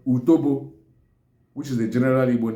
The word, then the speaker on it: utobo: Okay, so the other one is what we call in English is called APE, while in Igbo is called utobo, which is the general Igbo name, while some parts of the Igbo land call it utepe, U-T-O-B-O, utobo.